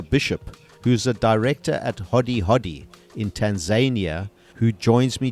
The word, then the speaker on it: Hodi Hodi: First of all, Hodi Hodi, is that the way that we pronounce it?